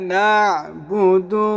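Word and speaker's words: نَعْبُدُ: আমরা আইনকে একটু চাপ দিয়ে গলার মধ্যখান থেকে পড়বো, এই আইনকে এবং এই আইনকে দুইটাকে এইভাবে ইয়াকা না'বুদু না'বুদু ইয়াকা না'বুদু ওয়া ইয়াকা নাস্তাঈন।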